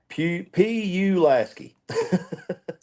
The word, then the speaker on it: Pulaski: How do you pronounce Pulaski? P-U Lasky. That's funny. Pulaski.